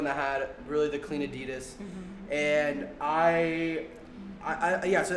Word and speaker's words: adidas: nike as a competitor adidas um they still or adidas is actually how you say it but anyways really